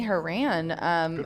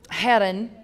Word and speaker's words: Herren: Haran, he hit the million, Herren is how I'm supposed to say it. I got stopped by somebody the other day and said, it's pronounced Herren.